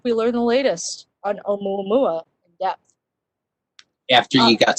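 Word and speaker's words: ʻOumuamua: learn the latest on Oumuamua in depth. After you got spoilers. Hey, it was in the news. Nice job on the Hawaiian pronunciation, Diane.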